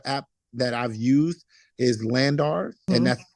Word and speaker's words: LANDR: One particular app that I've used is Landar, and that's spelled Landr for anyone interested in that.